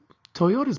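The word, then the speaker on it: Toyoda: So Toyota's big thing, and again, this is spelled a D, but this is actually Toyota, like the car.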